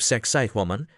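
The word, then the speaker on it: Sacsayhuamán: You hike a little higher, toward the fortress temple of Sexay Woman. Try not to giggle at the name, pronounce it right, and it sounds like sexy woman, which is ironic because the place is built like a linebacker.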